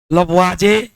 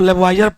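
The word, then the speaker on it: Lavoisier: असल में में बाबू हम लोग इसको लब वाइजर पढ़ देते हैं लेकिन प्रोनंसिएशन उच्चारण जो होता व लवाज होता है दृष्टि कोण लवाज का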